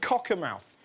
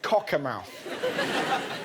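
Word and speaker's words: Cockermouth: Now one of the worst affected places was the northern town of Cocka Mouth. That's that's how you pronounce it. Cocka Mouth.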